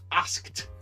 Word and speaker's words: asked: the E D and the pronunciation is asked with the T sound asked so I asked